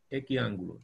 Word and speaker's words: equiángulo: Equiángulo, triángulo, X es igual. No olvide, X igual, y luego le agrega un sufijo. Equiángulo. Con acento en la A, ¿verdad?